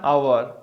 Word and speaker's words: hour: An hour. Here what happened? The word is starting with H. So H is silent here.